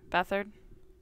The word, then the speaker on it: Beathard: How do you pronounce it? Beathard? Yeah, Beathard. It's actually Mhm. Beat hard. Beat hard.